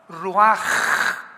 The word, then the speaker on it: ruach: la palabra como suena r u a c h ruach que es la palabra hebrea que significa espíritu y se pronuncia la ch en el hebreo como j ruaj r como J raj